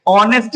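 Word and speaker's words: honest: ये है एच। एच इसका साउंड क्या है? साइलेंट है।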